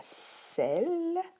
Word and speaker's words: celle: Il y a celle et celle avec un S. Donc, on ne prononce pas le E parce que le E est là pour faire résonner la consonne L.